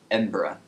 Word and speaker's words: Edinburgh: with chester this is a really cool City Edinburgh it's pronounced it's spelled like edinberg but all the people they're pronounced it like Edinburgh so I'm just going to say Edinburgh just